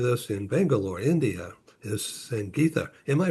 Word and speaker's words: Sangitha: I'm uh in San Diego and with us in Bangalore, India is Sang Gita. Am I pronouncing that correctly?